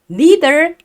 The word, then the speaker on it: neither: 아, 그리고 지금 제가 발음을 neither 이라고 발음하지 않고 neither 이라고 발음하고 있는데 자, neither 또는 neither 둘 다 괜찮은 발음이에요, 여러분들. 여러분들 편한 대로 가져가시면 될 것 같아요. 보통 neither는 영국 발음이라고 생각하시면 되겠네요. 중요한 건 아니에요.